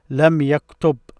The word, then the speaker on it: لم يكتب: So I would pronounce this as lam yaktub, as if I stop at. If I stop at any of these, I will pronounce it like this, lam yaktub.